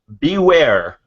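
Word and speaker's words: Bewear: were announced because obviously be where I think it till it it's spelt be e w/ei are like bear it is hilarious I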